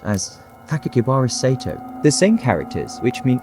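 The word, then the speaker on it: Sakakibara Seito: Enclosed was a 3-page, 140-word letter, also written in red ink, which included a 6-character name that can be pronounced as Sakakibara Sato.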